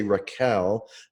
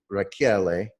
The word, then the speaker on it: Rachiele: L e calm and everyone mispronounce is it including my family if we say Raquel but it's a telling and it should be rocky LA and my phone number